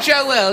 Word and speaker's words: Joel: Billy Joel is deeply sexual. Do you notice how I said Joel? It was that extra syllable I said Billy Joel.